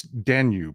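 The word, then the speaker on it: Danube: how he pronounces it it's danu as in the blue danu Walts the danu river listen to the way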